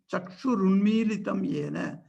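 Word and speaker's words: चक्षुरुन्मीलितं येन: So the spelling is written Chakshur Unmilitam Yena. That is how it is pronounced also.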